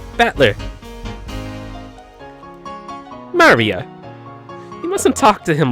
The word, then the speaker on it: Maria: Her name is written, of course, it's pronounced Maria.